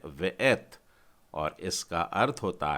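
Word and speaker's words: וְאֵת: तो इसका उच्चारण है वेएथ और इसका अर्थ होता है और।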